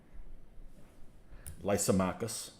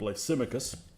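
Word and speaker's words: Lysimachus: but it's painful uh he calls him lysomachus lysomachus instead of lysimicus i don't know in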